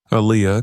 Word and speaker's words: Aaliyah: Aaliyah corrected her softly. It's pronounced Aaliyah, but the teacher had already turned back to the board.